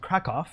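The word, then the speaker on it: Kraków: this was taken in Krakow, or if you're Polish, I think you pronounce it Krakow.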